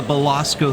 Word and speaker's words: Belasco: we already have someone out there I keep mispronouncing the name of this theater it is the Basco theater and gang it is small intimate and